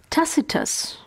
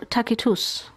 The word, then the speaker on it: Tacitus: level that bothers him tacitus or takitus whichever way you choose to pronounce it tacitus records the